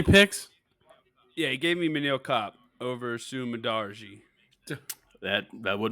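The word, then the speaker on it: Manel Kape: Yeah, I'm gonna go with Mantle Cape minus 175 or minus 179. I apologize. It's Manil Cop.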